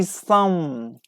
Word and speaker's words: psalm: Like we say some, we don't pronounce P.